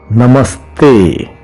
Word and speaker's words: namaste: soft T in English it sounds similar to the French word hotel the T in hotel so you pronounce namaste I bought you if